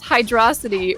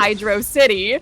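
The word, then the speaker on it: Hydrocity: desaris who says firstly it's hydrosity rhyming with atrocity not Hydro City secondly someone tell Huds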